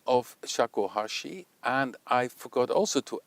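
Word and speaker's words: shakuhachi: I said shakuhashu, but this is Shakohashi and I wrote it wrongly.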